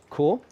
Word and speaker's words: Kaur: So firstly, I'm delighted to say that we have Jaspreet, and it's Kaur is the correct pronunciation.